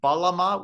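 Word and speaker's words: bağlama: it has two names the balama with a silent g uh because turkish whatever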